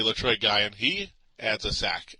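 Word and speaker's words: Letroy Guion: getting two sacks and lroy Gan I've been setting his name wrong forever lroy Gan it's really lroy guy and he adds a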